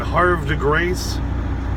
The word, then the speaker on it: Havre de Grace: across, what is it, Havre de Grace. It's spelled like, you know, Brett Favre, Havre de Grace, which, don't get me started on that.